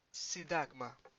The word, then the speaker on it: Σύνταγμα: Θα σε πάω μέχρι το Σύνταγμα. Remember, NT, the Σύνταγμα.